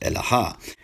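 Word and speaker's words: אלהא: So, for example, in Jewish Aramaic, the word is pronounced Elaha.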